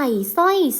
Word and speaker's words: สร้อย: คะ พี่ หนิง ใส่ สร้อย สวย เห็น คำ ว่า สร้อย ไหม คะ ส่อ เสือ ควบ กับ รอ เรือ จะ ไม่ ออก เสียง ร เรือ ล ใช่ ไหม คะ